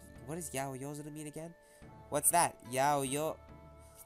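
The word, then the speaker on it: 八百万: What does yaoyozuru mean again? What's that? Yaoyo. It's written as 8 million. Oh, yeah, there you go. And pronounced yaoyozuru.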